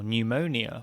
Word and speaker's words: pneumonia: even more silent letters think of tsunami from japanese with the silent t or pneumonia from ancient greek with a silent p this is because ts